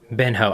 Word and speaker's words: Ben Ho: Ben Ho. I need to actually say his name is Ben Ho. Right, it's not one word.